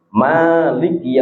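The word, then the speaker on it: مالك: Nah, ini ini manyanya ini tidak sama dengan di mananya Malikinas. Biasanya ini kalau mimnya di Alfatihah cara membacanya harus panjang. Mazhab kita mazhab Syafi'i juga. Kalau kalau Maliki bisa pendek. Maliki yaumiddin kan biasanya kita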